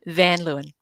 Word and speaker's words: Van Luyn: great to be here and how do we pronounce your surname one more time van Leen that really tripped me up I know I